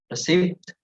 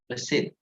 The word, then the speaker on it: receipt: So it's not receipt, but receipt. Okay. Receipt. Silent P. We do not say the P.